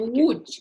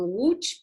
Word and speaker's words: Łódź: Ça se prononce comme un W en français. D'accord. Comme Łódź. Et Comme Łódź, pas voilà.